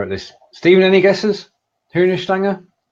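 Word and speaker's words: Hühnerstange: Is that pronunciation okay? Hühner Stange, yeah.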